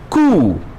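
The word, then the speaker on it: coup: है वह क्या है खूब यहां पीछे जो है वह म्यूट है उसका उच्चारण नहीं होना है खून और सरकार का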